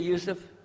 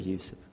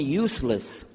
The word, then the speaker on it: Yusuf: my name is Yousef can you say Yousef you say Yousef you're very good I wish you teach my wife she keeps mispronouncing it she calls me useless ald now how many of you were in